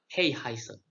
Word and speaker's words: 黑孩子: Jadi ini cara bacanya adalah Hey Heiser. Atau kalau diterjemahkan menjadi The Black Child. Apa itu Hey Heiser? Jadi Heihaise adalah anak-anak atau penduduk di Cina yang keberadaannya itu tidak diakui oleh pemerintah Cina.